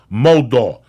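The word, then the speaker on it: Modal: twice as soft as cotton again mold is pronounced moldo nothing can describe the FIT of meundies but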